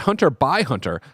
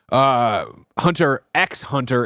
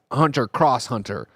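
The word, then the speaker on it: Hunter × Hunter: Mara writes in and says, Greg, it's pronounced Hunter by Hunter. Happy holidays. See y'all on KF Day. Mara, this is another classic one where you can't just make up pronunciations and definitions. Like, I've learned, of course, that it's not Hunter X Hunter, it's Hunter Cross Hunter.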